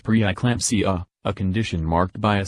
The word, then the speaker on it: preeclampsia: Gestational diabetes increases the risk of a baby that is too large, macrosomia, preeclampsia, pronounced preeclampsia, a condition marked by a sudden increase in